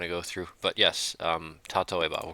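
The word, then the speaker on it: 例えば: I want to say it's sasoeba, tatoeba with a T.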